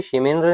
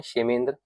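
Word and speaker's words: क्षेमेन्द्र: बृहत कथा मंजरी आपकी शमेंद्र ने लिखी है। इसे हम शे प्रोनाउंस करते हैं। शमेंद्र शे प्रोनाउंस कर सकते हैं इसे।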